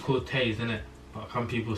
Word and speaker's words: Corteiz: be trying on clothes from quartz cortez it's pronounced cortez in it but some people say quartz cortez